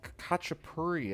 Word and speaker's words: khachapuri: we're making a georgian cheese bread it's called kacha puri i believe is the pronunciation um but basically it's just gonna feature